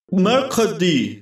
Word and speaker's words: Mercredi: Mi nombre es Mercredi. A ver, voy a buscarlo. Ah, sí. Significa miércoles y se pronuncia... Mercredi. Como el día.